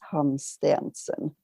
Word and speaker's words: Hansteensen: english so and then my family name is hans stanson okay quite long and complicated but quite simple